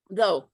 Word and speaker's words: though: silent letters such as though t-h-o-u-g-h why is the gh there because it's telling hey guys this is the history of the english language i used to be pronounced so all of the